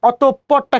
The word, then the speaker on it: অতঃপর: ওকে, এখন দেখেন অভিমান বা অতঃপরটা খেয়াল করি। অতঃপর, অ তয়কারে তো, অত। দেখেন এই যে বিসর্গ আছে, বিসর্গর পরে কি আছে? প আছে। বিসর্গ এর পরের বর্ণ 2 বার উচ্চারিত হবে।